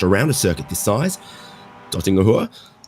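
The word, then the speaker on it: Döttinger Höhe: Dottingahua. See, it's got dots over the O's that you got to pronounce.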